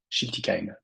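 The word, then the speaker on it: Schiltigheim: travaille sur Strasbourg et chiltiim c'est comme ça que ça se prononce attention et bien je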